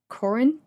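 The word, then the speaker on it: Korintje: go with another pronunciation k o r i n TJ e Corin cinnamon and then Salon cinnamon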